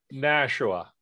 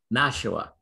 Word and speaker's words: Nashua: now i'm gonna miss pr how do you pronounce the the club the city here nashua nashua i always want to say something else so